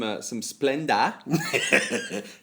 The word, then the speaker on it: Splenda: Get yourself some Splenda. It's not Big J, Splendor. as Big J pronounces it, and put that on your baked potato.